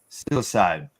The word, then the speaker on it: Psilocybe: So how do you pronounce that, Cindy? Psilocybe.